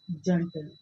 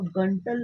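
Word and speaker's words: gentle: और एक वर्ड है जंटल, GENTL, जंटल। हम इसको गंटल नहीं बोल सकते क्योंकि इसके जी के बाद कौन सा वॉवल आ रहा है? ई वॉवल आ रहा है, तो इसका प्रोनाउंसिएशन है जंटल।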